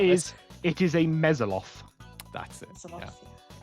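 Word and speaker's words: mezzoloth: it is a mesoloth.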